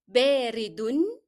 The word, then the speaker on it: باردٌ: باردٌ. Here I pronounced the sound of un because I followed it directly with the following word.